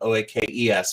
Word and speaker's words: Oakes: And there's a silent E in my last name that sometimes people miss, but OAKES.